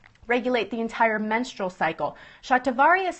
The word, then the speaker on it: shatavari: progesterone levels um it's a fantastic herb um shatavari is going to be the next one so